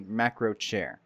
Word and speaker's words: Macrochir: If you were to try to pronounce it English-wise, it would be Macrochair. Or something like that.